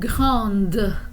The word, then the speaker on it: grande: Grand and grande. I'm pronouncing the D at the end in the feminine form.